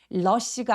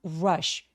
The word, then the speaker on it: rush: villagers 할 때 V 발음 또렷하게 내기, 그리고 rushed처럼 R로 시작하는 음절은 입술을 쭉 내밀고 U로 시작해 보세요. rush가 아니라 rush. 왜냐면 혀끝이 천장에 닿아서 발음이 될 때에는 L처럼 발음이 느껴질 수 있어요.